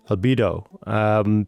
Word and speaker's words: Albedo: Is that how you pronounce it? Albedo? Albedo.